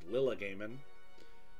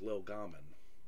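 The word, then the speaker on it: Llylgamyn: of the game World which I always pronounce Lila gaming which he corrected me and said it was Lil Garman Lil gaman he said the idea there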